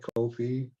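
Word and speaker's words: Ko-fi: sir mountaineer mike yeah coffee coffee how you pronounce that kofi kofi like button activated hi mike what's up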